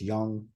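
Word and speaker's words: 用: And it's pronounced young, and it's made up of the character for wall, for moon, with just a straight line down the middle of it.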